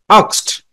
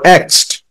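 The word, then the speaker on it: asked: আক্সড অর এক্সড, pronunciation দুইটাই right.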